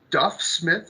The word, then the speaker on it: Duff Smith: a special guest here Mr Smith it's a Duff Smith is that did I pronounce that correctly yes all right well today